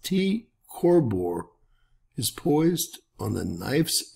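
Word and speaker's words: T Coronae Borealis: night sky reoccurring Nova TCB pronounced T corbor is poised on the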